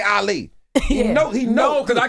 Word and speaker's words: Ali: You were saying Allie. I'm like, this man know how to say my name. Allie, what did he say wrong? Allie. You know, you Ali?